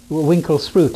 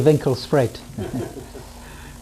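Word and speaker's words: Winkelspruit: It means the river by the shop, but the English mispronounce it. What do they call it? Winkle sprout. It should be Winkle Sprite, right?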